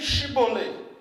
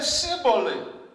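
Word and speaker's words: Schibboleth: » Il lui disait alors, « Eh bien, dis Chibolé. » Et il disait, « Cibolé. » car elle ne pouvait pas le prononcer.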